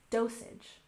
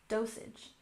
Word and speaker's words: dosage: Emphasize the first syllable, dosage, dosage. Dosage is the amount or how much of a medication you should take at a time.